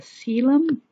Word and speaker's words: coelom: that is called a coelom okay so this is pronounced seal um and it's a body